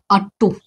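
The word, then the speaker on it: ought: अब इसका प्रोनाउंसिएशन थोड़ा सा टफ लगता है, लेकिन आपको क्या है, सिंपल सीखना। आटा जानते हैं ना, आटा जिसको गूंद करके रोटी बनता है। तो आटा में ट में आ की मात्रा, उसको हटा दीजिए,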